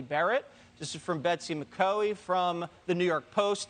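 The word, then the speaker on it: McCaughey: This is from Betsy McCoy from the New York Post, the only newspaper that I read every single morning. McCoy, I'm sorry, Betsy. That is the correct pronunciation of her name.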